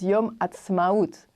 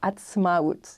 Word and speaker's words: Yom Ha'atzmaut: And the day in Hebrew is Yom Ha'atzmaut. Excellent. We need to know a bit of the name. It's difficult to say it. I know how to say it now. It took a while. Atzmaut.